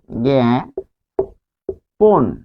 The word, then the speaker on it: জ্ঞাপন: তারপর আরো যদি বলি যে জ্ঞাপন, জ্ঞাপন, তাহলে মাঝখানে কি রয়েছে? প হসন্ত যোগ স্বরে অ রয়েছে, ফলে এটি হবে জ্ঞাপন, জ্ঞাপন।